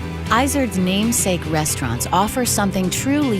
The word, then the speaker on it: Izard: with my last name which I say isard but in French it's isard which is a mountain goat that lives in the